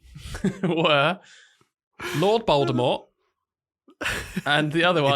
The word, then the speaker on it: Voldemort: Because, Voldemort is bold and it rhymes with bold, vold.